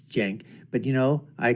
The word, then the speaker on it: Cenk: s and I know how the name is pronounced it's Jen but you know I call him sank anyways from The Young jerks right not The